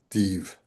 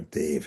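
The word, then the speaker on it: دیو: of Mazandaran, a white div, as they say in Persian, or Dave, if you want to classicize the pronunciation of it, a white demon.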